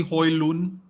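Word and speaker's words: Haaland: spelling and the the the pronunciation is actually Hoy loon and you don't pronounce the d yeah he's actually a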